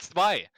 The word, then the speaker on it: Zwei: It's a German word. It means two, and it's pronounced Zwei.